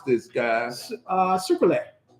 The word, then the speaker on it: Sucrule: pronounce this guy uh sucette so like sugar sucra and uh oule as in Brule like you know like put it on fire or something yeah Kentucky